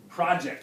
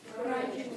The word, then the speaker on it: project: guess so um so the noun definition is Project everybody say project project and the verb to the both verb definitions are pronounced differently project project stress on the second syllable okay um in Spanish